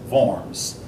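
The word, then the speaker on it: Worms: that's the Concord upon forms that word is pronounced forms basically where they say that the church appoints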